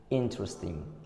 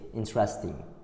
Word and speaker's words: interesting: The stress is given to the first part of the words, interesting, but the majority say interesting.